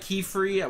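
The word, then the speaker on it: Qifrey: I think we're going to I also like Keyfree. We talked about Keyfree Pronounced Key spelled Q I F R E Y.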